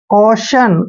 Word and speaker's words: caution: देखिए सी के बाद जब भी ये आता है तो सी को हम कै पढ़ते हैं, तो सी का उच्चारण कै करेंगे, AU का उच्चारण ओ की मात्रा करेंगे ऐसे, और TION को हमने क्या पढ़ना है, शन।